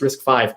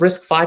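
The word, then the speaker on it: RISC-V: risk fiber risk yeah i've never really learned a pronunciation for that one but i believe it's risk five architecture compared to x86 now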